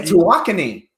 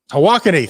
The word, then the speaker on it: Tawakoni: I mean, I'm reading about things, for example, that, you've got, let's see if I pronounce this right. You've got Tawakoni. Is that a lake or reservoir? And Lake Tawakoni. Tawakoni, thank you.